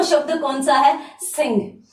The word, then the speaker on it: सिंह: हिंदी में कोई अपवाद नहीं है एक शब्द को छोड़कर, और वो शब्द कौन सा है, सिंह।